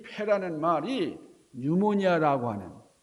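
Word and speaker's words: pneumonia: 피라는 말은 묵음으로, 영어에서는 이 피 발음을 안 하니까 거기서 뉴모니아.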